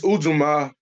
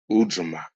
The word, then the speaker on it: Ujima: This Ujima, they pronounce it differently. The J is kind of silent.